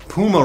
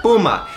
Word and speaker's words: Puma: say that i pronounce puma wrong it's a spanish word puma it means cougar it's not puma in little british scallywags all right